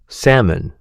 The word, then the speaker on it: salmon: Salmon. A large fish, famous for having a completely silent letter, L.